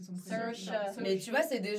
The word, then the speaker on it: Saoirse: Ça se prononce Shaori. Saoirse. J'ai jamais réussi à prononcer son prénom. Saoirse.